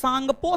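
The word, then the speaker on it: Tsangpo: trans Himalaya को बहद हिमालय से अलग आईटीएस जेड आईटीएस Z full form होता है Indus सांगपो Sachar John T silent है टी साइलेंट है इंडस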